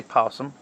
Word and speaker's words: opossum: Ours, in front of the P, has an O, spelled opossum, but just say possum.